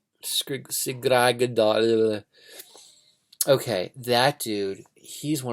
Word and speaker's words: Svidrigailov: I have a hard time pronouncing his name. Arkady Ivanovich Svidrigailov. Svidrigailov.